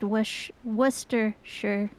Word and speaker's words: Worcestershire: sure what it's actually it's pronounced W wer sure yeah yes uh but